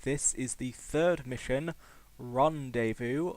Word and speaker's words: Rendezvous: is the third mission Rondevu also known as rendes vowe if you can't pronounce the French language which I cannot that